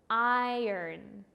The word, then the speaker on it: iron: get it right today we're going to say it a little bit like this iron I earn so we have more